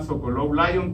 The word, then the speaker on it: Sokolov-Lyon: Lo que solamente tienen que relacionar en este punto es que hay algo que se llama Sokolov-Lyon, que es como león, lo tienes que pronunciar de manera fresón, el cual valoran el plano horizontal sin crecimiento.